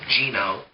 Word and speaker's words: Geno: also get genome or ghetto I've heard that pronounced both ways now on from the sake of this review I'm calling him Gino because it's g-e-n-o not yeah this house spelled